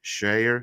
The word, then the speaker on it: Schreier: Marvel's Kevin Feige confirmed the studios is working on a reboot of X-Men with Thunderbolts director Drake Schreier, sorry for if I mispronounced that name, Shire is fine.